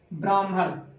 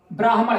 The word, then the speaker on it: ब्राह्मण: ऐसे मा में मिला तो इसको लोग ब्राह्मण प वो क्या पढ़ देते हैं ब्राह्मण लेकिन यह पूरी तरीके से गलत है आपको अगर उच्चारण करना है तो आप इस प्रकार से करेंगे ब्राह्मण कर ठीक है और ऐसे